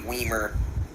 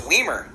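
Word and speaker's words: Wiemer: and Joey Weimer Weimer no it's weemer Weimer it's Wimer to me Weimer does yeah well no I'm going by the official pronunciation I I watched I watched a couple Brewers games and they said weemer I'm going by his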